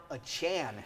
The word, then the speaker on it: Achane: And then the rookie, Devon Achane, who has now told us this morning that's how he wants it pronounced.